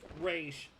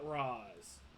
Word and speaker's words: Ra's: And yes, it is pronounced Raish, not Raz.